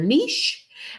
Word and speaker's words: niche: Niche uh rhymes with the word gish, and it simply describes what kind of content are you creating on your channel.